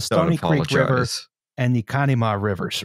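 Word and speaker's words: Conemaugh: I do want to point out that it's pronounced, as far as I've heard it, Conema. Conema. You actually pronounce it Conema.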